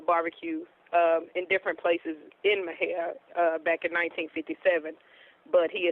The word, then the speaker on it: Mexia: In Mexia, Texas, MEXIA, Texas. It sounds a little different than if you spell it out, but yeah, we're located in Mexia.